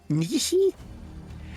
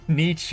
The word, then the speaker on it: Nietzsche: Nishi? The Oh, philosopher. Leonardo da Vinci or No, Nishi? No. Leonardo Nietzsche.